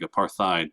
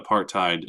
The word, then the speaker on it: apartheid: And I know it looks like aparthide, but when you say it, you're supposed to say it like a tide. Um, so that apartheid, it literally translates to